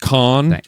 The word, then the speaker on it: Cannes: And then, a little bit of a hand clap at Cannes Festival, he's going to lend some credibility. It's pronounced Khan, actually.